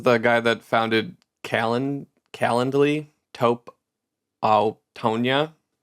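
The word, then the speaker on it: Calendly: It's like calendar but l y and no er.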